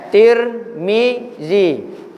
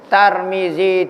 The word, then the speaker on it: Tirmizi: Tirmizi. Ta bagi bawah, ming bagi bawah. Hak ni pendapat muktamad. Cara baca dia ada 9 cara. Tarmizi, Turmuzi, Tirmazi, Turmuzi, Tarmazi, hak muktamad Tirmizi.